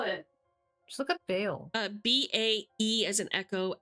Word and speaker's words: Bael: How do you spell it? Just look up Bale. B-A-E as in echo, L as in Lima. Bale.